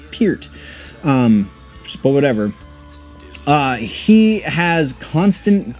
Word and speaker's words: Peart: lot to do with Neil Peart or Pete however you're supposed to say his name now I've always said pert and then a couple years ago somebody's actually it's Pete but whatever he has